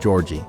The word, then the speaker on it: Jorge: I need to remember now that I'm not in a Spanish-speaking country and the word Jorge is now pronounced Georgie.